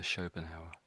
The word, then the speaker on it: Schopenhauer: And that's a tricky name and you're spot on. That's exactly how it said. Yeah. Arth Arthur Schoenhower.